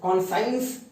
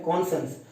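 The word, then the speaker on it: conscience: कॉन्सेंस, कॉन्साइंस हम बोल तो रहे हैं लेकिन बट इसका सही प्रोनाउंसिएशन है कॉन्सेंस। एक इनर सेंस ऑफ राइट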